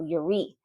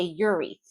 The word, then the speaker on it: Yuri: I think in Russian you pronounce the second syllable of a name, so Yuri. But we English speakers and a lot of the world would say Yuri.